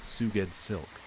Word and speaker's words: SGOUSLK: SGOUSLK, pronounced Suged Silk.